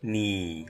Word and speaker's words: 你: And now, let's transform that arrow into a needle, making it easier to link to the pronunciation of ni as a needle points directly at you.